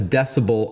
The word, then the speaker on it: dcbel: At a high level, what is decibel R16 all about? And we should tell our listeners that decibel is spelled DCB.